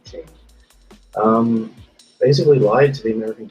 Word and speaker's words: Cheney: Dick Cheney, as I say his name correctly, Cheney, basically lied to the American people and said